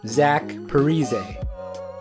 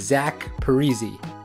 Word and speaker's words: Zach Parise: When he first started in the NHL, everyone called him Zach Parise. The NHL pronunciation guide actually still says this, however, today the correct pronunciation is Zach Parise.